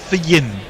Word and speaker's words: Fionn: Jay Grover, to really have my cake and eat it, to argue that the Irish Fionn is pronounced in Fyin, F-Y-I-N, Hefyin.